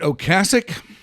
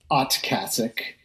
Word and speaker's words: Ocasek: Is it Ocasek or Ocasek? Well, I think both are acceptable, or at least I'd like to think so, because I say both. But given that his name was Ocasek, and I think that's how you would have